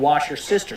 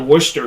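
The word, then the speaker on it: Worcestershire: Okay, they got people saying wash your sister sauce. That's clearly wrong. Okay, well if you're from Boston, they call it Worcester sauce.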